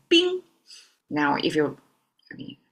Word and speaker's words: 冰: So yesterday we started with water and today compared with water we have two extra dots there and this make water into ice pronounced as bing.